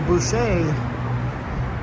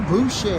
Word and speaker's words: Boucher: Whoa, Michael Boucher. Michael Boucher. You gotta say his name right. It's a French name.